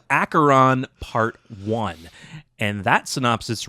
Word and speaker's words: Acheron: acheron i had to look up how to pronounce that i was gonna that's why i wanted you to read it yeah it's acheron part one and that synopsis reads returning to